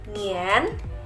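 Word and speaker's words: 年: mengenai tahun nah tahun ini dalam bahasa Mandarin dibacanya adalah nian nian nian jadi tahun dibacanya adalah nian di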